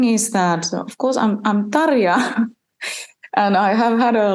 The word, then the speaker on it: Tarja: Yeah, and apologies for my Australian accent saying Tarja. It's Tarja. I don't think you taught me how to say it last time, but difficult.